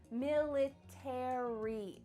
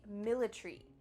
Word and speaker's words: military: letters a r y military in british english they often cut out the a so instead of military it would be military military that a is